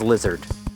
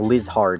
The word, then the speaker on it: Lihzahrd: found out off camera apparently the weird spelling of lizard is just pronounced as lizard so yeah it's just an alternate spelling of blizzard cool that's good to know so i don't have to try and embarrass myself by saying liz hard anymore this looks like